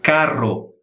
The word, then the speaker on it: carro: de bebê esse e se pronuncia carro carro língua bati várias vezes no céu da boca igual as palavras também